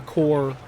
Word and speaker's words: corps: I always hated how that word spelled uh core cuz it's spelled corpse, but you say core.